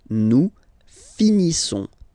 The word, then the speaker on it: finissons: Nous finissons. Finissons. Okay, final S not pronounced.